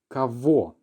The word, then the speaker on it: кого: The pronunciation is v because this is a rule that we've seen. Very often in Russian, the letter g, if it's in between two vowels, will often be pronounced as a v.